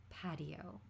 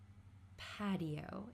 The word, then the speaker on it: patio: to make a maraagoesque patio. This word here, patio. In American English, this t is going to become a flap t. We're going to pronounce it similar to a d sound.